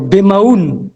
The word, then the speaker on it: Bemaoun: Je pense que vous parliez plutôt de Roger Judicaël Bemaoun et non pas Bilem.